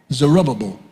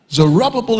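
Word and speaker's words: Zerubbabel: One is under this guy and I will spell it for those who don't mind. Zerubbable. Zerubbable is the first person to lead the people back.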